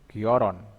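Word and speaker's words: 결혼: Contohnya giolhen, giolhen dibaca hanya dibuang jadi gioron.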